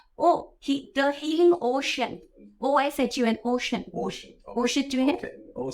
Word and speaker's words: Oshun: How do you pronounce it? Oh, the healing ocean. OSHUN, ocean.